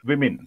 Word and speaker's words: women: And the plural is, if you take the dictionary, you can clearly find there the pronunciation given W-I-M-I-N. Women.